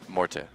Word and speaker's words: Morte: This morning, we find out that he has decided that people will pronounce his name the way he always intended as of today, which is Morte.